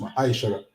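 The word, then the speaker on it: מעשר: 10 means 10 in the Hebrew and is pronounced Ma'aishara.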